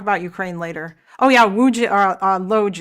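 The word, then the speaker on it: Łódź: Oh yeah, Wuj Loj. It's pronounced Wuj.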